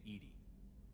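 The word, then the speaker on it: EDI: Why are you named Edy? Ed is the pronunciation of EI.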